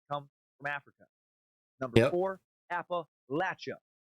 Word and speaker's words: Appalachia: from africa number four appa lacha that is the primary and most correct pronunciation appalachia mostly for northern